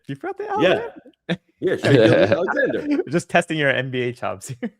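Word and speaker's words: Shai Gilgeous-Alexander: How do you pronounce SGA's name? Shea Gilgeous. What do you mean? Alexander. You forgot the Alexander? Yeah, Shea Gilgeous Alexander.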